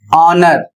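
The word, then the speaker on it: honour: Next word है एच ओ एन ओ यू आर और इसे पढ़ा जाएगा ऑनर और इसका अर्थ सम्मान नेक्स्ट वर्ड है एच ई आई आर और इसे पढ़ा जाएगा एयर और इसकी हिंदी होती है वारिस।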